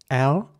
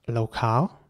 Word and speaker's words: locale: would be pronounced locale again with an r and in American English it would be locale with an a sound once again so the same principle basically applies here in British English it's an R sound for the a and an American English it's in a sound Locale locale here's an